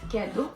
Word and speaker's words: kedu: Hola en Igbo es kedu. Ketu. Hola en Igbo es ketu. Kedu. Ketu. ¿Otras palabras? ¿Cómo viniste? Viniste. How did you get here? Kedu. Kedu. Ki. Kedu ki.